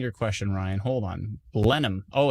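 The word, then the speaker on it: Blenheim: question Ryan hold on blenham oh it's just blenham blenham no h blenham thanks Scott appreciate it still trying to find Ryan's question where did it go Blen him everybody's telling me how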